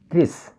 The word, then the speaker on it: increase: This word consists of two syllables, increase. So we should stress on the second syllable, increase.